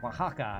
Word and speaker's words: Oaxaca: Oaxaca, I think is how you say that.